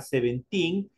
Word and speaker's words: seventeen: el 17 corresponde a seventeen otra vez nos topamos con esta doble e que recuerden para pronunciarlo solo para pronunciarlo se transforma en una Y entonces aquí tenemos seventeen